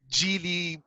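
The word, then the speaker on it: Geely: of ways uh and the brand was actually genie or gili or whichever yeah yeah yeah oh yeah i was scored i was corrected by the gili guys so we did a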